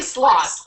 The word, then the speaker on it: Sloss: do is not say your name right Heidi sloth Heidi sloth outstanding so how what makes you one of